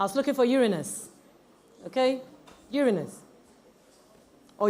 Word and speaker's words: Uranus: Uranus. Or Uranus. That's how we want to pronounce it.